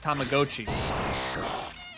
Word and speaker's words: Tamagotchi: That's the word Tamagotchi is correctly pronounced Tamagotchi.